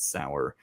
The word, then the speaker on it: Sauer: Uh, no, not Matt Lowour. His name is Matt Sour. Um, spelled the same just with an S instead.